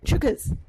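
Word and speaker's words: chookas: whatever before you go on stage everyone says chers it means it's the same thing as break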